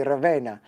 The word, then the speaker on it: Ravenna: to make sure that I could say Ravenna like a true Italian, because I was getting it horribly wrong.